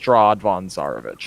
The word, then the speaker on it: Strahd von Zarovich: a pro uh so straw Devon sarovic is how he's always brought up it's never Baron von strad it's nothing like that it's just strawd Von zarovich okay Quinlan is basically